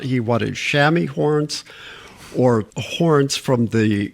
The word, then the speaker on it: chamois: the base of the Chamois crags. Chamois is the French pronunciation, but we call it chamois in English.